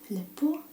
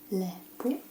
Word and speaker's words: lepo: Lepo te je videti. Lepo.